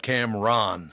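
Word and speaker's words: Cam'ron: yeah so it's uh Cameron oh Cameron officially pronounce it but yeah so essentially so Cameron is bad Camron it has I mean just I don't want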